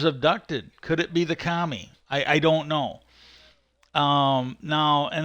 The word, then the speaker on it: kami: Okay, now the next one is the kami. Not the kami like communist. The Kami, I think it's spelled.